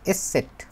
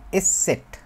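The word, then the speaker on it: ß: মত উচ্চারণটা দখলে আসবে আর এটা হচ্ছে এসে সেট এস সেট এইটা আসলে হয় যেরকম সেটা হতেছে ই এর মত আর কি মানে ডাবল এস এর মত বলে ডবল এস কিন্তু এটাকে বলে হচ্ছে এস সেট এস সেট এখন হচ্ছে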